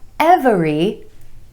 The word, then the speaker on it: every: several several not several two syllables emphasis on the vowel sound Anna in the first